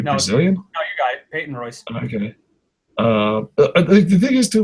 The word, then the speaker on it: Peyton Royce: I might have mispronounced. Is it Peyton Royce? Are we Brazilian? No, you got it. Peyton Royce.